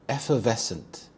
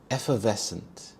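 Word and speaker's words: effervescent: Effevescent. Effevescent. Here the stress is on the second syllable. Ves. Effevescent.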